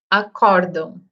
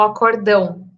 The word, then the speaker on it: acórdão: Mas a gente vê muito na mídia, né, muitas vezes falando, o acordão.